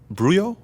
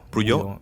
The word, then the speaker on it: Bouyon: Bruyo or Buyo? Buyo.